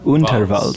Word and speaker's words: Underwaltz: Underwaltz. It's spelled like waltz, but we pronounce it German.